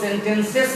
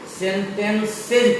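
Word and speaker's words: sentences: उसी तरह से आप देखिए एस ई एन टी ई एन सी ई एस, इसको हम लोग सेंटेंसेस नहीं पढ़ के सेंटेंसेज पढ़ते हैं। क्यों? क्योंकि यहाँ भी वही बात है कि सी के बाद जो एस आया है इस एस का उच्चारण जॉ हो गया है।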